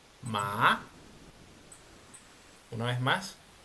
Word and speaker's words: má: Bueno este párrafo dice el segundo tono es un sonido ascendente comienza en un tono normal pero aumenta su gravedad y termina más alto a como comenzó Qué quiere decir esto